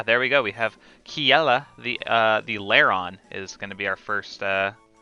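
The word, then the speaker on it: Kjelle: Um, I believe that the way you pronounce this name is Kiela. Um, when I first played Fire Emblem Awakening, I did pronounce it Kajil because I'm just that basic. Um, but yeah, so I'm pretty sure it's pronounced Kiela.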